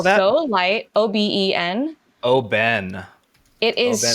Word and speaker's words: Oben: it is How do you spell that? so light. Oben.